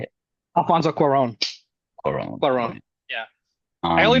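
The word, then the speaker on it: Alfonso Cuarón: name for me how do you say it Alfonso Quon Quon Quon yeah I only know that because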